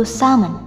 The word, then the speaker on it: salmon: Jika kamu biasa menyebutnya persis dengan kata aslinya, yang sebenarnya adalah tidak menggunakan kata L, yaitu salmon.